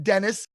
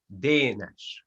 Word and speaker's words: Denes: hungarian it will called denash then almost like a danish but it's it's hungarian